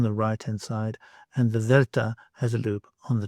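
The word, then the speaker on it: δέλτα: You may know this letter as the letter delta in English, but in fact it is delta in Greek. And that initial sound from the word delta is the sound that I want. In the English example I have for you here is the word then.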